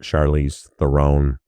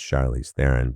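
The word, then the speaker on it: Charlize Theron: It's not Charlie's Throne, it's Charlie's Theren.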